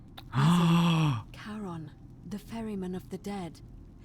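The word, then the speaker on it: Charon: you described it only your pronunciation is a little off the name you heard wasn't Karen it was c h a r o n ah a karon the Fairman of the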